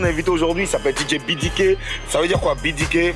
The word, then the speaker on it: BDK: Donc en français, c'est BDK. Mais comme quand je commençais, j'avais des ambitions internationales. Donc on est parti sur la base de la prononciation en anglais. Ça donne BDK. Donc par exemple, si vous voulez me retrouver sur Facebook, vous tapez DJ BDK effectivement. Mais en fait, c'est BDK qu'on prononce. Voilà.